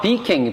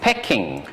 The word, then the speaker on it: Peking: i would say that peking is a cantonese pronunciation okay so it's not peaking basically it's pecking in french it is